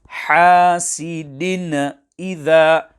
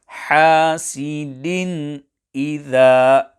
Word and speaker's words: حَاسِدٍ إِذَا: One common error here is hasidin idha, where some pupils carry out a qalqalah on din and pronounce hasidin. This is incorrect, and care must be taken when memorizing that qalqalah is not carried out here. Hence, the correct pronunciation will be hasidin idha, without qalqalah on din.